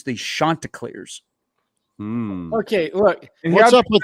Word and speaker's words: Chanticleers: This is pronounced Chanticleers, and their head coach will remind you, do not pronounce their nickname incorrectly.